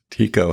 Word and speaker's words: TECO: And Tico is spelled TK? Is that No, Tico, TECO, the text editor and corrector.